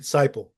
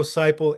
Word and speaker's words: Siple: And you're pronouncing it Cyple. Yeah. Yeah. And I I meant I didn't want to correct everybody say. It's completely fine. Ciple.